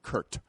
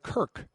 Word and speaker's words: Kirk: the team's website, he kept calling him Kurt. Not Kirk with a K, but Kurt with a T.